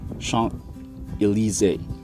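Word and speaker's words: Champs-Élysées: chomps eliza's or chomps illysis but it's actually pronounced as sean elise and uh and it has neon color elegated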